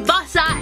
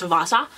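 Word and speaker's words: Vassa: Christmas, and that is Bossa in the Night, if that's even how it's pronounced, which I think I already established. It's Vasa. Vasa.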